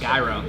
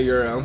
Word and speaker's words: gyro: I always thought it was a gyro. It's definitely a euro.